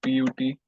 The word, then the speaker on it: put: Like PUT is pronounced as put, whereas BUT is pronounced as but. Both places we are using the same vowel, U, but the pronunciation is different.